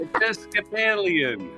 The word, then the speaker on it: Episcopalian: I got Episcopalian. Yeah. If you see an American, he says, "I'm not Anglican. I'm Episcopalian."